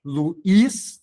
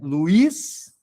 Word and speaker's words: Luís: Luiz, não é Luiz, é Luís.